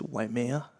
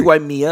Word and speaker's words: Waimea: Oh, and by the way, it's Waimea, not Waimea.